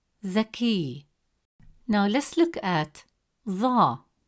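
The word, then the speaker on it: ظاء: Now let's look at ظا. It is a deep sound, pronounced from deeper in the mouth, with more pressure and emphasis on the tongue, pushed with more force from the back of the mouth.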